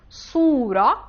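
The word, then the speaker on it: صورة: chapter of the quran sod it is coming a little bit from the flip tongue a little bit behind so it is coming completely from the teeth pay attention to the difference between these two letters another two words could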